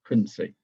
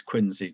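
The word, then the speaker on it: Quincy: rest went to quinsey I know it looks as though it's spelled quiny but it's quinsey just south of Boston to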